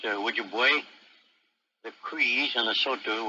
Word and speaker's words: Ojibwe: The Ojibways, pronounced Ojibwe, the Crees, and the Sotu were among those MacDonnell encountered by the River of Death.